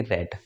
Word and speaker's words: read: Second form को आप बोलते हो उसको बोलोगे रेड, और थर्ड फॉर्म को जब आप बोलते हो तो उसको भी क्या बोलना है, रेड।